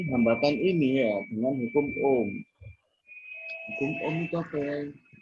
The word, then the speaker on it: ohm: Bacanya ohm.